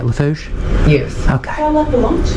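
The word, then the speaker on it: Lafourche: And am I saying it right, Lafouche?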